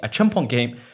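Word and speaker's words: Acheampong: A Chimpong came into the starting lineup and looked very good. A Chimpong. Joshua Chimpong. That's how you say it.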